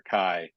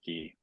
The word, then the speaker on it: chi: fraternities, which is not, they would say, pi or chi instead of p or ki.